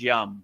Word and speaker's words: yam: So the yam which is the heart chakra you know the the proper pronunciation is yum yum m right like yum.